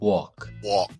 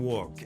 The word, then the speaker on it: walk: you might be asking that because some people will say, well, Steve, I heard some Americans saying woke, and you're totally right. In some regional accents, they will use it that way.